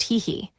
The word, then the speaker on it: Heihi: Another appraisal revealed its unique race, Heihi, pronounced Heihei.